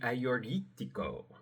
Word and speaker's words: Agiorgitiko: And you're going to want to get the Ah-your-yeek-tee-koh. Now, this is a Greek word, so of course it is not spelled remotely how it sounds or sounds remotely how it's spelled.